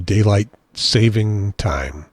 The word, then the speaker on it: daylight saving time: people that knows that technically it's called daylight saving time and I would be happy to go around correcting people who called it daylight saving this time and say no you're saying it wrong it's daylight saving time but because I really